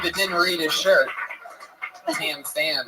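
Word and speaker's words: Tam Pham: For those of you that didn't read his shirt, Tam Fam is spelled TAMPHAM. Word to that. Oh yeah. Heavy on the PH.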